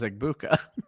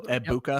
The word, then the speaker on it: Egbuka: So Egbuka. Yep. Okay. Yep. So that's what I've been told. So yeah. I did say Egbuka when it started, but yeah, I believe the G is silent, that's not the route Gator went with it.